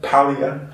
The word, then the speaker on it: Paglia: listening to someone like Camille Paglia palliate to pronounce it correctly or that reformed pastor